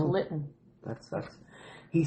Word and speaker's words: Lytton: Yeah, it's Lytton.